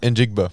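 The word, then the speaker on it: Njigba: How do you say And Jigba.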